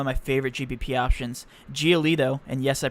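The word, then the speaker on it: Giolito: give you one of my favorite gbp options geolito and yes i pronounced that right because i looked it up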